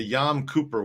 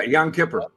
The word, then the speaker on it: Yom Kippur: lost attack nuke in the Yom Cooper War yeah Yom Kippur though wait there's a lost